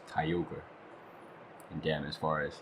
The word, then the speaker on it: Kyogre: As a kid, I used to call him Kyogre, but that because that's what my cousin called him, but now I know his name is supposed to be pronounced Kyogre.